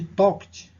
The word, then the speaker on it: talked: Então, a pronúncia é o som de um T aqui no finalzinho. She talked to all of us.